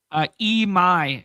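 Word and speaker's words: Imai: Emai is how it's pronounced.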